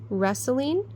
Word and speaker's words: wrestling: The kittens were wrestling in the bush. Bushes. Which one do you think it is? I think it's wrestling. It's one of those silents again. So wrestling should be spelled W-R-E-S-T-L-I-N-G. S T L I N G.